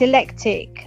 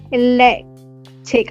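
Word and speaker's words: eclectic: I don't know how you say it. Electric, I think that's electric. Electric. Yeah, I think. Yeah, not electric. Um, it says E C L E C T I C.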